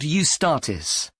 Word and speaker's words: Eustatis: there's a performance by a ballet company called eustatis sorry the name is spelled e u s t a t i